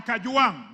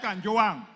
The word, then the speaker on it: Kajuang: I'm not Gachechwa. I am Kajuang, not Kanjuang.